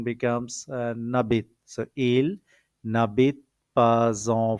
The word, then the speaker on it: n'habite: Now pronunciation becomes n'habite.